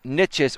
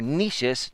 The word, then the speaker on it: niches: The same principle, the same concept holds true for many different niches or niches, depending on how you pronounce it, depending on where you're from.